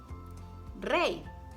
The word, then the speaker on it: rey: When it appears alone by itself, or when it's at the end of the word, it's pronounced like a pure I vowel. I, like in the words hoy, ley, rey, or the connector I, and Paula y Pedro.